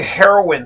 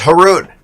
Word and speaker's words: Haroon: business school people say heroin sometimes when i was growing up people can't pronounce my name they say heroin it's haroon and it rhymes with baboon you'll never forget it